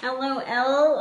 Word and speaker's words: Elleoelle: Elleoelle? Elleoelle. Yeah, but it's spelled.